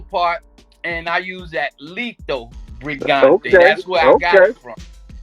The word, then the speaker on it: Lito Brigante: Lito Brigante.